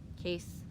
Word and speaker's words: Case: Rhymes with face. Case.